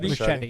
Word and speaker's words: Muschietti: How do you pronounce it, Dave? Machete, yeah.